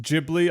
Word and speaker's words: Ghibli: were even referencing studio apparently it's pronounced Ghibli I've been saying Ghibli my whole life I apologize so yeah